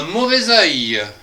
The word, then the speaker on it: mauvais œil: Un mauvais œil. Hein? Un mauvais œil. Avec le son zeuil, zeuil.